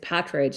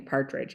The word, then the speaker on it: Pattridge: It's Pattridge, and a lot of people call me Partridge.